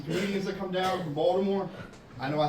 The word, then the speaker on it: Baltimore: my grandma was like, it's not Baltimore, it's Balmer, right? She's old school. It's Balmer, hon, South Baltimore. And she would try to correct me, that's not how you say it. I'm like, Grandma, that's how you say it. She's like, there's no D in Baltimore.